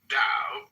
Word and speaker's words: Tao: The word Tao, properly pronounced Tao, has lent its name to a way of understanding and living in a world with profound implications for modern societies.